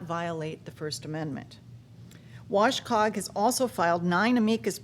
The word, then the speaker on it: WCOG: his time at wcog how do you guys pronounce it w wash Cog wash Cog all right see I'm from vcog